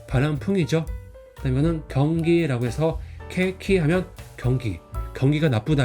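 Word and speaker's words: 景気: 그다음에 이거는 경기라고 해서 케키 하면 경기가 나쁘다 할 때 그 경기입니다.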